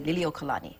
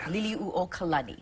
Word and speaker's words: Liliuokalani: For the longest time, I said her name wrong, and I would say Liliuokalani, but it's Liliuokalani.